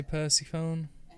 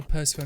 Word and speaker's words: Persephone: very charismatic at least didn't say percy phone look for some reason people want me to say the name wrong anyway i know persephone is the correct pronunciation but you know what